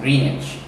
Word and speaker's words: Greenwich: which is actually spelled as Greenwich, but we pronounce it Greenwich.